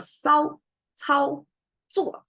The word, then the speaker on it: 骚操作: And they are all what you call 平舌. So you don't curl your tongue in these pronunciations. You have to go flat.